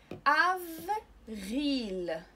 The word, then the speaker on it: avril: حوض الغسيل ان لا فا بو un lavabo avril avril اذا هنا ا على لتر ا نطقناها ا عاديه حيت ما تبعها حتى شي